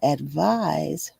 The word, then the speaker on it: advise: Despite their very similar spelling, advice and advise are pronounced differently. Advice rhymes with ice while advise rhymes with advertise.